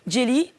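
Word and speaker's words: Djayli: Jelly comme grio tout simplement. Voilà, c'est vrai que ça s'écrit D J A Y L I pour que les anglophones puissent le lire correctement, mais Jelly parce que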